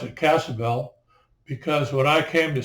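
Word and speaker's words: Casa Ybel: Is Still Point Bell the Y was not used it was silent is uh the same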